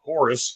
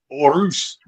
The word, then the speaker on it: Horus: Us in mlw that it's not Horus it's orus and she drilled that home so many times I I still pronounce it the Spanish way but um these two